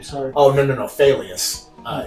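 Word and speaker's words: Faileas: Failious. Uh, it's spelled like like if you fail at something.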